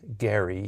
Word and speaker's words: Gerry: Uh so we've gone along with all of these authorities on the pronunciation of his name as Gary here.